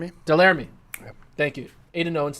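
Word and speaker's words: Delerme: Delamere? Delarmy.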